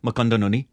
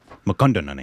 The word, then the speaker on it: Mukundan Unni: How would you say it? Mukundan Unni. Mukundan Unni. Yeah, Mukundan Unni. I think you got it exactly the way it's supposed to be pronounced.